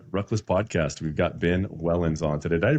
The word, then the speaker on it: Wellens: We've got Ben Wellins on today. Did I pronounce that right? Yep, that's correct. Ben, you Ben Wellins on.